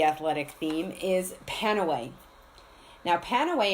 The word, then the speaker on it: Panaway: Now, Panaway, if pronounced like pain away, would give away exactly what its use is.